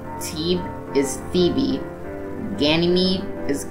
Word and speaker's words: Thebe: Thea is Thea, Phobos is Phobos, Deimos is Deimos, Metis is Metis, Amaltheia is Amalthea, Thebe is Thebe, Ganymede is Ganymede, Elara is Elara, Eupori or